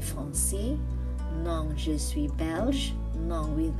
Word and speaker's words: Belge: Moi, je suis Belge. Stress at the G and S is silent.